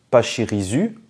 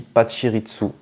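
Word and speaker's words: Pachirisu: dit pirizu ou patiritsu et bien on dit patchiritsu c'est du japonais et ça se prononce comme ça pas de chiritsu là il y a rien à changer que ce soit français ou japonais ça se c'est censé se prononcer de la même façon mais bon encore une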